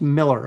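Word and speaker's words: Millar: Moromi says he's clarified he's pronounced Miller.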